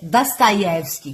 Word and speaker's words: Dostoiévski: verdade a pronúncia é Dostoiévski, que o O é meio A, elas falam meio Dostoiévski, eles falam Dostoiévski.